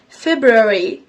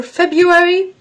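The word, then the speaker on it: February: طيب اللي نطقها فيكم فيبروي اور فبرواري انتوا الاثنين صح بس مش فبروي معظم الوقت في الامريكان اكسنت بتبقى في بيوري علشان نتيجه الكلام السريع بتاعهم او الكونكتد سبيتش ماي ازام ان في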